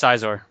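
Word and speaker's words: Xizor: X I I think I think it's caor Z po like the Pokemon you say is caor so I think it would be caor yeah that guy's kind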